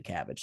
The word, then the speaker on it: CABG: So CABG, CABG is, I don't think you actually would pronounce it cabbage, but everybody calls it a cabbage.